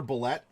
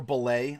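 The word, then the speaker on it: bulette: Yeah, of course, you have your Bullet. Or Belay. I don't know how you choose to pronounce it or your group. To some it's Bullet with a hard T. To some it's Belay.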